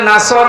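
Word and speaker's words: نصر: হয়েছে এখানে সোয়াদ আছে নাসর মানে সাহায্য আর নুন সিন র নাসর মানে এ গল্প কি আপনি যদি মুখটা গোল করে শুদ্ধ করে উচ্চারণ না করেন অর্থ আকাশ পাতাল পাল্টিয়ে যাবে আল্লাহ পাক বলেন হে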